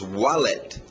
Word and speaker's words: wallet: Outras coisas que a pessoa pode usar junto com o suit, um W saindo dos lábios, wallet. Wallet. Wallet.